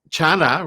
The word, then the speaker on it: Chana: Chana rhymes with sauna.